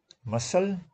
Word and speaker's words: muscle: Muscle, c is silent, laser, d is silent, no, laser.